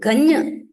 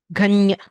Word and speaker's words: गण्य: गञ् इति शुद्धं वा Ganya. गण्य Nya is like cha cha ja janya. You have to press the tongue to the place just behind the teeth.